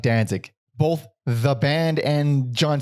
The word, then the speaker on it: Danzig: i pronounced it dancing how are you supposed to say his name it's it's danzig alex everyone everyone including everyone we know has said why does he say dancing there's only one n it's d-a-n-z-i-g dan zig then zig yeah not like dancing